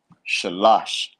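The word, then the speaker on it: שלוש: three in the Hebrew sha lash that's how you say three in the Hebrew the Sha the LA and the Sha but again last a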